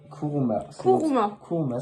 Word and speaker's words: Kouruma: Kuruma, Kuruma, c'est mon pseudo.